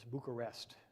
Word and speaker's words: Bucharest: in bucharest romania and i used the emphasis on the last four letters bucharest so we just were